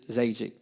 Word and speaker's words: Zajikc: So they think the J is silent. But Czechoslovakian is Zajikc.